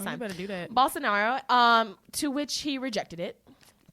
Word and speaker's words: Bolsonaro: So the G7 came together, offered a $20 million donation to President Bolsonaro. Hey, I said it right this time. You better do that. Bolsonaro, to which he rejected it.